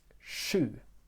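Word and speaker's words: sju: have em attention to number seven which is shu okay it can be that pronunciation is shu okay if it's difficult for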